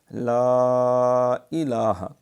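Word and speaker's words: لا إله: صحیح تلفظ کے ساتھ لا الہ، یہاں مد ہے، مد منفصل ہے، تو تھوڑا سا اس کو لمبا کریں، یہ نہیں لا الہ، لا الہ، اور لا الہ، الہ نہیں الہ، لام کے اوپر کھڑی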